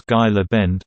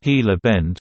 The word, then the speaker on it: Gila Bend: There was a weather gal on a TV station in Knoxville, Tennessee who pronounced the location of the hottest temperature in the U.S. as Gila Bend, Arizona.